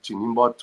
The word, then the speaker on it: Njinimbot: is my name last name jot which most people find it very difficult to pronounce but the end is silent and I'm originally from